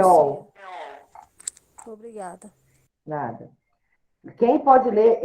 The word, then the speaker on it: Sheol: Como que se pronuncia? Sheol.